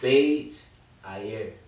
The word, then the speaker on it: SiegeAierre: So it's SiegeAierre. SiegeAierre. But it's like it's spelled crazy.